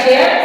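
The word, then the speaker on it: chair: इसका उच्चारण च है और दूसरी जगह इसका उच्चारण क है सी एच ए आई आर चेर सी एच ओ आर यू S coarse तो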